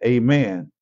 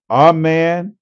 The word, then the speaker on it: amen: a better look at amen amen is derived from the Hebrew U word aain uh which means certainty truth or and verily in English the word has two primary pronunciations aen and amen it can be expressed